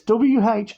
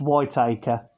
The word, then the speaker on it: Whittaker's: i think it's pronounced so it's w-h-i-t-a-k-e-r-s so i believe it's pronounced whitaker's don't think it's pronounced white acre uh chocolates whittaker's chocolate